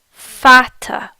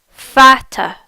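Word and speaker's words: Vater: members the word for mother in German is pronounced mutter mutter mutter the word for father in German is fatter FATA fatter next we'll look at how to see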